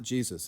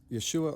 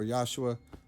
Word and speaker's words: Yeshua: It's not Jesus. It's Yeshua or Yeshua."